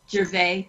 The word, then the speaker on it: Gervais: and yeah there's one Gervais the S is silent yes today I'm marking